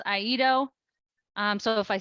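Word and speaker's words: IEDO: office um in Eerie which of course we created an acronym for and pronounce aido um so if I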